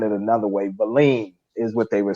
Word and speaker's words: Wallin: And Wallen, I know I'm pronouncing his name wrong because they were saying it another way. Valin is what they were saying, Valin.